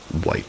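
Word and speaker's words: Wight: White spelled W I G HT. I think that's pronounced white.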